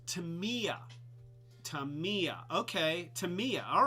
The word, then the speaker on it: Tamiya: did that so uh dusty cat says uh pronounced tamiya tamiya okay tamiya all right well uh and